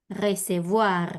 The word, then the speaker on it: recevoir: Termina ahora en IR, o sea que ahora sí pronuncio la R final. ¿Cómo me queda? Recevoir. Recevoir, muy bien. Marcala más a la R, bien, en la base de la Ok. garganta. Recevoir, bien.